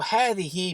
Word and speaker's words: هذه: Both هذا and هذه are pronounced as if there is an aleph after the ha.